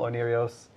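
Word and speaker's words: Oneiros: Onirios, I'm pronouncing it correctly, by the way.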